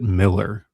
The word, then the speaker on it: Millar: No, he says it's Miller. Millar. It's spelled Millar. Mark Millar pronounces it Miller.